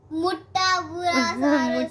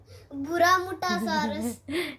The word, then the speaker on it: Muttaburrasaurus: Muttaburrasaurus. Muttaburrasaurus. Shriya, my sister, used to pronounce Muttaburrasaurus as Buramuttasaurus, Very good.